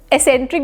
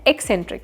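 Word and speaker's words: eccentric: इसको बहुत सारे लोग एसेंट्रिक भी बोलते हैं, जो कि गलत होता है। इसका सही प्रोनाउंसिएशन है एक्सेंट्रिक, मतलब क की आवाज आती है।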